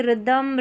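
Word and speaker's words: rhythm: यहां पर देखिए रिदमम राइम राइनोसर्स और रम्बस। तो आर एस आर एच को आपने र प्रोनाउंस कर दिया क्योंकि एच यहां पर साइलेंट है।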